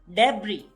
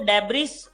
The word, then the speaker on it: debris: Okay, इस word को हम पढ़ते हैं डेब्री, डेब्री। ज्यादातर बच्चे इसको डेब्रिस, डेब्रिस बोलते हैं या डेब्रीज, ज की आवाज आती है डेब्रीज, बट ये एक्चुअली होता है डेब्री।